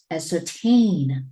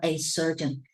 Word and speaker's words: ascertain: a certain, no, okay, ascertain, right? Ascertain, not a certain, ascertain.